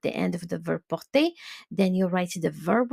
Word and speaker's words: porte: So remember that the ent, when you pronounce it, it is silent. You do not pronounce it at the end. You just say porte.